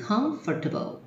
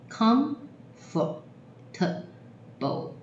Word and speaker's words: comfortable: 好，第二排第一个字 comfortable， comfortable，四个音节，字尾一